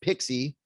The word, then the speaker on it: PKCE: uh authorization code plus pixie pkce so pxe stands for proof key for code exchange pkce it's uh kind of fondly pronounced pixie like the little uh fairy or something and what we're looking